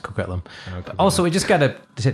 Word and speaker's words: Coquitlam: Coquillion is going to be amazing. Oh, no, it's pronounced Coquitlam.